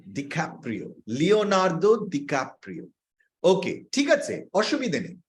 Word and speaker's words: Leonardo DiCaprio: না, ডিক্যাপ্রিও, লিওনার্দো ডিক্যাপ্রিও। ওকে, ঠিক আছে, অসুবিধে নেই। এমনি অনেক সময় উচ্চারণে ভুল হতে পারে। উচ্চারণ হচ্ছে লিওনার্দো ডিক্যাপ্রিও।